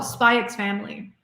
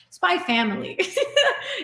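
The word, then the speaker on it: SPY×FAMILY: Oh, Spy X Family. I shouldn't be pronouncing the X. I know people are going to correct me on that. Spy Family is one that I would really recommend as well.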